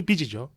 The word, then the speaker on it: 빚이: 그런 만큼 빛, 이것도 내가 빚을 졌다, 지읒 받침이 나와야 돼요.